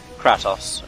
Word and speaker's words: Kratos: I was underleveled, and the weapon that I was given to Kratos was, Kratos, I should say, that's better pronunciation, was a water-based weapon.